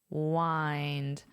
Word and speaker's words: wind: Remember this pronunciation. What's our reference word? Find, wind, wind down, relax.